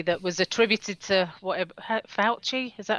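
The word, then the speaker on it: Fauci: a post recently that was attributed to whatever fouchy is that how you pronounce it yes it wasn't it was just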